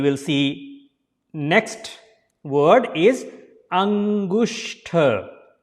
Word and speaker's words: Angushta: Then you will see next word is Angushta. Angushta. So this is a sh sound, not s. That's why there is s and h. So Angushta, and it is a th. So you have to slide the tongue over your hard palate. So that will be exact sound like th.